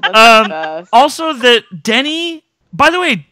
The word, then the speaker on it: Denny: Also that Denny. By the way, Denny's name is Denny, not Danny.